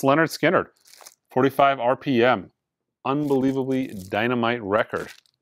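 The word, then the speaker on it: Lynyrd Skynyrd: But yeah, pronounced Leonard Skinner, 45 RPM, unbelievably dynamite record.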